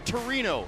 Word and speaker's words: Torino: The Mole Antonellana for 130 years has been the iconic landmark of the great city of Turin or Torino as the locals say here today.